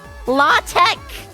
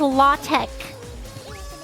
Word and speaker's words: LaTeX: probably know what LaTeX is.